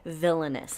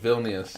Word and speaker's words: Vilnius: I see, but I heard like villainous, like that's probably villainous. That's probably how I did pronounce it. 1920. But Vilnius, okay.